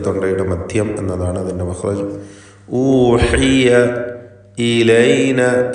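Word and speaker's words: أُوحِيَ: ഊഹിയ ഊഹിയ എന്ന് ക്ലിയറായി ഹായ് ഉച്ചരിക്കണം.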